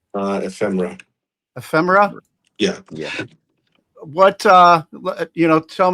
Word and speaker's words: Ephemera: Is that pronounced correctly? Ephemera.